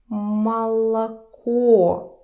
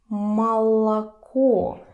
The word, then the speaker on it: молоко: Pay attention that only the last O is stressed. And remember this sound. Молоко. Молоко.